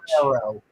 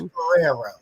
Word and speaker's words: Guerrero: No, Pedro It is Guerrero. Pedro Guerrero. I have trouble pronouncing things. It's Guerrero.